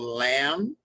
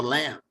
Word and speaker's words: lamb: So Mary had a little lamb, but how do you spell lamb? L-A-M-B. That's right. But they don't pronounce the B, right?